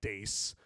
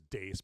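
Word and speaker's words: Deace: it doesn't it doesn't it's not spelled anything like Dace but that's how you pronounce it is Dace but it's uh it's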